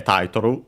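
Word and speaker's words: タイトル: And yeah, Taitoru, title, accented just like in English on the first syllable.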